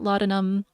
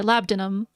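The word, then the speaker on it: labdanum: Frankincense, cedar, myrrh, amberree, benzoin, ladum, or labdinum. I think there's two pronunciations, nutmeg, pachuli, and veter.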